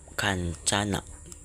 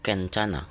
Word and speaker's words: Kencana: Warga Bukit Kancana. Kencana. Kencana ya. Ya. Bacanya Kencana.